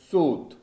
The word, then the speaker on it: swath: Twinned means twisted, and swath, it's pronounced sooth, right?